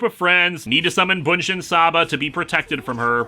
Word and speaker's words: Bunshin Saba: Sadako is basically the villain for the first half hour, then Bunshin Saba, or Bishin as it's pronounced in the film, is the focus for most of the rest.